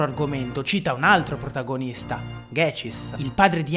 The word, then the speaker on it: Ghecis: traslitterazioni del nome giapponese, che si pronuncia dunque Gechis, ma che è scritto G-Cis.